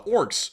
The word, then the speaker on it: Orsk: is actually pronounced uh Orcs literally I'm not even kidding if you were to actually pronounce it normally it's actually Orcs but beyond that let